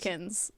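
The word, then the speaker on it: Kahjakins: how he says. He says Kajakins. So K-A-H. Kajakins.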